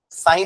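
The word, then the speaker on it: psi: जैसा बनता है ना साइ बोलते इसको क्या बोलते हैं साइ नहीं प एस आई प साइलेंट है ठीक है देखो य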